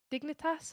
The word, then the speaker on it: Dignitas: So I'm probably going to butcher the pronunciation. I'm sorry. Dignitas.